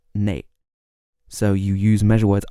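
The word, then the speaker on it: 哪: words after which and the word for which is normally na which can also be pronounced nay in parts of North China if you wanted to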